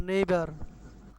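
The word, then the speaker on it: neighbour: সেটা হচ্ছে এই যে শেষে আর আছে না ব্রিটিশ আর উচ্চারণ করে না নেইবা পার্টনার এভাবে বলে আর কি নেইবার পার্টনার মিটিং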